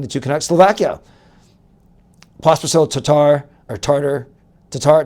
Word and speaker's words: Tatar: I think Latvia as we mentioned including the two connects, Slovakia, Pospascil, Tatar or Tartar, Tatar, Thomas Tatar, not Tartar. It's not fish and chips.